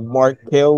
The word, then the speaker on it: Marc Cayle: Today I have Marc Cayle with me. I hope I'm pronouncing your name right. Yes, you are.